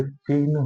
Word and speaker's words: चिह्न: को लिख सकते हैं पहली बात चिन्ह नहीं होता चिह होता है ह का उच्चारण पहले होता है और न का बाद में होता है तो आइए हम